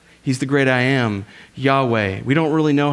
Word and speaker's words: Yahweh: with the highest name the closest we can get to understanding how they might have pronounced it was yahweh but we don't know because the scribes the